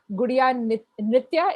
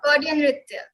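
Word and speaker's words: Gaudiya Nritya: For everyone watching this, Jaya is a classical dancer trained in Kuchipudi, Gudiya Nritya. Is that how you say it, Jaya? Did I say it right? Gaudian Nritya.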